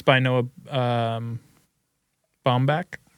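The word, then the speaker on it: Baumbach: That's um it's by Noah um Bombach. Bombbeck, I think is how you say his last name.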